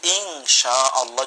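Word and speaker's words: إن شاء الله: এজন্য আমরা বলি যে ইনশাআল্লাহ যদি বলি তাহলে অধিকতর বিশুদ্ধ হয়।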